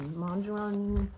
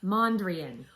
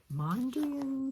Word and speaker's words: Mondrian: of this done last time I'm making the Mandarin full moon how do you say it Mondrian Mondrian pullover buy two of one yep blind brand